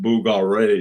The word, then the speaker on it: Bulgari: right uh that and they pronounce it really funny i call the booger google read they don't call it uh bulgari they call it boogal ray something like that anyway we know what